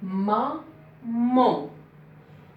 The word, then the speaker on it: maman: Mais concernant la deuxième syllabe, là, le A ne se prononce pas ici.